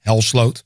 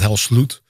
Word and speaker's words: Hel:sløwed: was still um struggling how people should pronounce my last name hell SLO yeah not hell slute um so we try